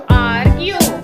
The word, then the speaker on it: argue: Argue. Argue. Here is a E is silent.